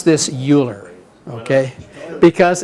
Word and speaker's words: Euler: the definition of an Euler path which is motivated by the kernigsberg problem okay oh by the way do not pronounce this Euler okay because it's Euler that's the correct German pronunciation and so it's this